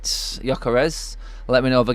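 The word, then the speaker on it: Gyökeres: of Swedish people and that is a bit of a silent G going on at the front there so yeah correct M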